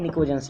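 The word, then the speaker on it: pnictogens: Okay, फिर next group 15, इनको कहते हैं पिनिकोजेंस, पी साइलेंट, निकोजेंस केवल.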